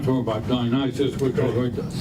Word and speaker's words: Dionysius: We're not talking about Dionysus, we're talking about, how do you pronounce? Dionysius. Dionysius.